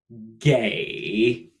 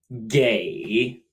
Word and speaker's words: 给: Now, if we add a silk to the side of our 和, 给, to give. 给, pronounced just like gay in English with a dipping tone.